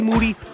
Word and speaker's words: Moody: New York aka the Jake LaMotta of podcasting I'm right here with Moody whose last name rhymes with duty they call me black